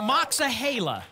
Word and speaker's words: Moxahala: From Moxahela.